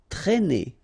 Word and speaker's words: traîner: Okay, accent circumflex here, so you should write it, but then keep in mind that you don't pronounce it, so it doesn't change the pronunciation of this combination of two letters, A and E together, it's E, okay, traîner, traîner.